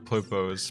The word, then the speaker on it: Popo: Popo that voice clip Popo that's how you pronounce it me your blood